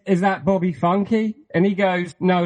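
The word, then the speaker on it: Funke: character Bob Bobby Funk everyone pronounces his surname wrong yeah it's funky yeah everyone it's the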